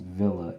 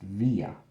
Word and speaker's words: Villa: say it so i i believe it's pronounced villa in english but i am of mexican descent so it's pronounced via i was born here